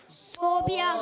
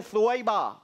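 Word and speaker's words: ثويبة: सही प्रोनाउंसिएशन है सुवैबा।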